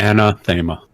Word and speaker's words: Anathaema: Okay, so how would you pronounce the name of your ship? Sorry, Anathaema.